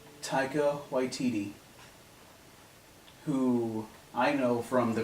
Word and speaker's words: Taika Waititi: How do you pronounce his name? Taika Waititi, who I know from the Green Lantern movie.